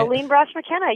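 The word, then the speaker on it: Aline Brosh McKenna: Elaine Brosh McKenna, yes.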